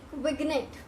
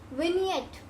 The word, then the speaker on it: vignette: So most of the people will speak vignette, ठीक है, vignette, vignette, something like that. But इसकी pronunciation क्या है? The actual pronunciation for this particular word is vignette, vignette, ठीक है।